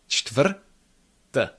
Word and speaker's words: čtvrť: No chut, chut. It's cht, cht. And then we have vr together. Vr, vr. Cht, vr, cht, vr. Let's combine those. Cht, vr, čtvr, čtvr. And at the end we have t. Čtvr, t. Čtvrt, čtvrt. Again, each consonant is there, but it is not long. There is no quasi-schwa in between them. Čtvrt, nice and crisp.